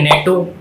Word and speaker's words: NATO: So basically आज का अपना टॉपिक है नेटो, एनएटीओ या नाटो. इसके तीनों प्रोनाउंसिएशन है, तो आप कोई सा भी प्रोनाउंसिएशन कर सकते हैं.